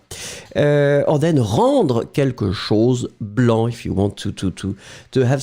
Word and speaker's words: blanc: have the feminine form blanche. So remember, masculine form blanc, B-L-A-N-C, you don't pronounce the final C.